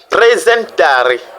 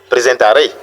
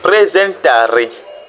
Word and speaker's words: presentare: Nous avons presentare, vous voyez, presentare, et non presentare, non, c'est presentare. Donc le ta, l'accent tonique tombe sur le ta, presentare, qui dit en français présenter.